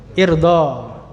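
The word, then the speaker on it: ارضَ: Hamzahnya hamzah wasal, bacanya gimana itu? Irdo. Ya, jangan bingung. Irdo, karena ini wazan fa'ila yaf'alu, berarti if'al. Ya, yaf'alu, if'al, irdo.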